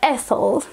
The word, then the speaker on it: Ethel: le rôle de Rose, en anglais tu le prononcerais Ethel, et Stephen Sondheim qui